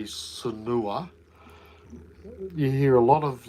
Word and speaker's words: Sanur: Someone said to me that Sanua is pronounced. Sanur. I know, I'm Oh. getting there. Is pronounced Sanur. Sanur, But with the tongue roll.